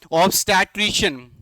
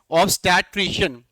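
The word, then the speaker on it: obstetrician: Next vocabulary is ऑब्स्टैट्रिशियन। क्या है, ऑब, फिर देन स्टै, देन ट्रिश, एन, ऑब्स्टैट्रिशियन। क्या है, ऑब्स्टैट्रिशियन, ऑब्स्टैट्रिशियन, ऑब्स्टैट्रिशियन।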